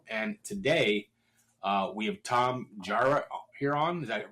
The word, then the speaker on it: Tom Jarrett: And today, uh, we have Tom Jara here on. Is that pronounced that right, Tom?